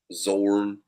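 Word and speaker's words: Xorn: I think that's right I don't think you pronounce the X so yeah I think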